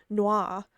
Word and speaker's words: Nwa: And I found out that NWA is supposed to be pronounced Noah because it's the Creole way of spelling and pronouncing noir, the like French name for black.